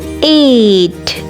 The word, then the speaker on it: eight: v e n seven eight eight eight e i g h is a long a sound nine n i